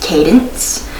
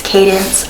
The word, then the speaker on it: Cadence: a good question um my name is pronounced Cadence um c a d n c e that's my name it's Cadence I get this a